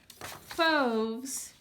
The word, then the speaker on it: Fauves: Fauves is a word. It rhymes with the word stoves.